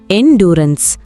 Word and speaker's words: endurance: இந்த வேர்டை எப்படி ப்ரொனவுன்ஸ் பண்ணணும்னா என்டூரன்ஸ். இது ஒரு நவுன்.